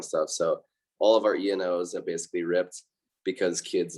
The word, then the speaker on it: ENO: ENO, though, is how you say the brand, and they're made as like lightweight backpacking hammocks.